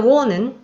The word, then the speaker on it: wonen: So the O in the wonen is a long O because we pronounce it wonen.